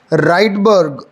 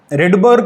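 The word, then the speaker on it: Rydberg: जिसे हम बोलते हैं राइडबर्ग constant. रिडबर्ग constant, राइडबर्ग constant, आप जैसा उसको प्रोनाउंस करना चाहें। यहां से ये फॉर्मूला निकला, यहां पे students R इज रिडबर्ग constant.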